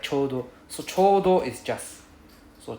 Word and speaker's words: ちょうど: It's not choto. It's pronounced as chodo. It's not choto, it's chodo.